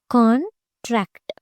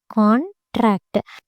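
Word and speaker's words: contract: Next కాంట్రాక్ట్. So what happens here? కాంట్రాక్ట్. The stress is marking on the first syllable and here on the second syllable.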